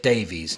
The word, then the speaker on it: Davies: I said Davies, not Davis. I said it right this time.